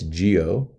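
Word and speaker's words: guyot: for way too long I pronounced that gyot right how else would you see it it's Geo um and uh these were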